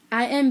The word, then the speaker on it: Ia: My name is I am bitter. My name is Ia. In Hmong, it's spelled I-A-B.